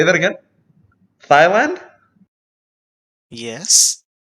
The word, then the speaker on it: Thailand: Thailand? yes. Thigh, like Thigh. Thigh. I mean, is that a different country? No, it's just not how you pronounce it. Oh, I said Thailand because it's a TH.